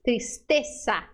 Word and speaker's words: tristeza: Toda vez que você ver a letra Z, faça um S. Tristeza, tristeza.